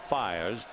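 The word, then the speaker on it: Fiers: will be Mike fires he spells it f i r s but it's pronounced fires this will be his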